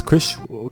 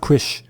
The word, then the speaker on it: Chris: His name is Chris. His name is Chris, not Krish. Chris, say it properly.